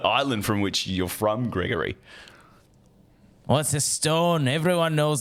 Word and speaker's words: Gregory: Gregory. Gregory. I feel like you really need to pronounce it with a. It's with a hard G.